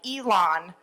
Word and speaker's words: Elan: And he wrote back, it's E-L-A-W-N, like Elan, salami. So, but instead of salami, which gets me to say it, Elan.